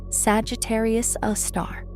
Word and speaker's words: Sagittarius A*: The supermassive black hole at the center of the Milky Way is called Sagittarius A star, pronounced Sagittarius A star.